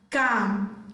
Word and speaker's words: calm: Letter L is silent in the word calf, calm, chalk, folk, half, sam, salmon, talk, yoke.